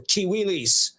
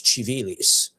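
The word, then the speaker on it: Civilis: So I don't want people to say it's chivalis or kiwis. No, I'm pronouncing it like church Latin. So it's chivalis. The corpus urus chivalis was the code law of the Byzantine Empire from Justinian forward.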